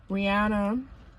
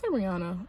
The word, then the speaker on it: Rihanna: But Chris Brown came out with a documentary, and he had just explained, like, Rihanna, that's Rihanna. I mean Rihanna, because I think that's how she wants you to pronounce her name.